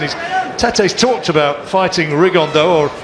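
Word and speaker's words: Rigondeaux: T's talked about fighting riondo or as he's correctly pronounced with the uh Spanish accent rigon da and two absolute Geniuses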